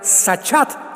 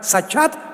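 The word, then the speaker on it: שחת: La palabra corromper también es importante porque la palabra hebrea sachat se escribe con s como suena sachat con t de tío al final.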